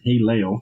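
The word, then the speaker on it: הֵילֵל: The Hebrew word translated as, I'm going to butcher the shit out of this, Haleo, pronounced as Haleo.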